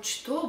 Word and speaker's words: что: We spell что, but we pronounce что. Что? What? Что? I don't know why.